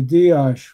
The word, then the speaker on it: Dias: And in Hungary, they say dash with the S is pronounced like an sh. Oh. Oh, wow. So, it's actually Denny Dash.